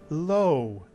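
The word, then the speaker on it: לו: with our new vowel low is correct mitsu Yan again some Israelis would say l but either l or low is correct by the way low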